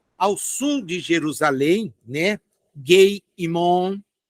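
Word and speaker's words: גיא הינום: Gei-Imon, Gei-Imon, na verdade, na pronúncia mais próxima.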